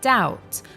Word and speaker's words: doubt: the other one is doubt which has a silent B so it's pronounced doubt